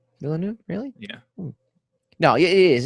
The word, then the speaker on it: Villeneuve: I'm trying to figure out how you pronounce Villeneuve. I thought it was Villeneuve. It's not. It's Villeneuve. Villeneuve, really?